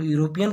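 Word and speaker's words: European: तो ई लिखा है लेकिन इसका उच्चारण जो है ई यू आर ओ पी एन, यूरोपियन का उच्चारण क्या आ रहा है? स्टार्टिंग में इसका या आ रहा है।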